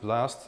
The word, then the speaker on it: BLST: BOST, you pronounce it BLAST.